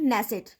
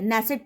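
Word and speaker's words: Knesset: नेसेट, के silent है, नेसेट पढ़ेंगे इसे।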